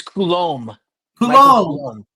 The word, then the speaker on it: Coulumbe: is it okay kbe how do you pronounce it oh it's Kul K okay so I [